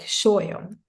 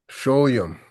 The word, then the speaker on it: Sólyom: Well, in Hungarian, we would pronounce the S and S. So it would be like Sólyom. Sólyom, Sólyom, Yeah.